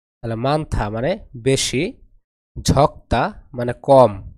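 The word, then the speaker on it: 많다: মানথা মানথা মানে বেশি এখানে উচ্চারণ হবে থ তাহলে মানথা মানে বেশি ঝকতা মানে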